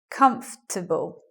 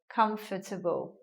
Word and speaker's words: comfortable: Well, now we get a 3-syllable word, comfortable. As I mentioned, some people will say the word in a 4-syllable way like this, comfortable.